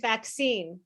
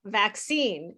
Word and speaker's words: vaccine: uh sound but the that's why i said vaccine vaccine is really the stress is on the second syllable so but the va sound in vaccine is a black sound yeah so the problem